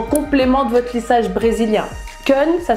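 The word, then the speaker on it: Keune: Kun, ça s'écrit K-E-U-N-E.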